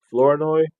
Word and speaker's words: Flournoy: Flournoy, that's how you pronounce it, Ryan Flournoy.